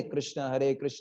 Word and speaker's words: कृष्ण: Second thing is pronunciation, Rama नहीं है, राम नहीं है, राम राम राम, कृष्ण कृष्ण कृष्ण, कृष्णा नहीं है, कृष्ण और राम।